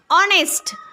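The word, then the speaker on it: honest: बरोबर आहे तिसरा बिफोर ऑनेस्ट त्याचा नेस्ट उच्चार करू नका नाही तिथ ऑनेस्ट जरी स्पेलिंग मध्ये असलं तरी त्याचा उच्चार ऑनेस्ट करायचा काय करायचा ऑनेस्ट तर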